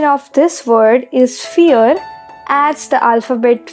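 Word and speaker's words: vier: of this word is fear as the alphabet V of English is foul in German it is pronounced as F alphabet V is pronounced as F so it becomes fear films x/z bin at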